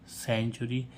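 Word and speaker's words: century: तो जब सा क जब सी के साथ में ई हो तो सीई एन टी य आर वाय सेंचुरी सीई एन टीई आर सेंटर सीई एम ई एनटी सीमेंट ठीक है तो ई के साथ सी के साथ में ई हो तो उसे सा पढ़ते हैं और जी के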